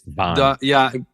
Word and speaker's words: WAAN: Just so I get it right, how do you pronounce the band name? It's called WAAN. WAAN. It's WAAN.